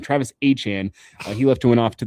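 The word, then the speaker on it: Etienne: Remember, he he corrected us all in the pronunciation name. Not ETN, Travis Han.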